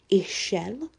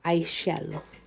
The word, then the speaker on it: Ixchel: shell or excel it's does have an x but the x is silent so it can be pronounced ishell or i shall it kind of depends